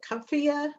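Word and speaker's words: Cuphea: it in the fall this is the kuffia i don't know if i'm pronouncing that right c-u-p-h-e-a it's an annual but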